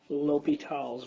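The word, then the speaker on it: L'Hôpital: the homework and also to explain things on l'hopital's rule that's how it's pronounced no matter how much dough and the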